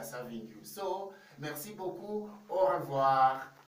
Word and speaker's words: au revoir: want to know it the way it is pronounced you will say au revoir okay david i want to remind you that